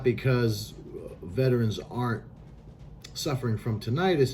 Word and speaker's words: tinnitus: So, today's topic is going to be tinnitus, or tinnitus. This depends on who you're talking to is how to pronounce it. So we're going to call it tinnitus.